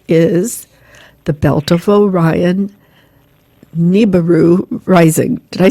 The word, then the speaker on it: Nibiru: of her book is the belt of oion nibaru rising did I say it right that's that Nibiru Rising you've got it okay well I'd like